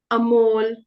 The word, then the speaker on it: Amol: sometimes it might be pronounced as ah. So if we have the name Amit, Amol, Amandeep, it's just a.